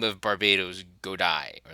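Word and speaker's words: Barbatos: So the English is, may you be struck down in the name of Lord Bartibos, which is wrong because I think it's Barbados is the correct pronunciation, but they carried this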